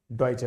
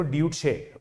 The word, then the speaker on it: Deutsche: इसकी स्पेलिंग देखो, DEUTSCHE, तो मैं तो पहले इसको ड्यूटशे बैंक बोलता था, ड्यूटशे बैंक। इतना मस्त नाम था इसका, मैंने कहा ड्यूटशे नाम यार कुछ अजीब सा है, इसको पढ़ने में दिक्कत आती है।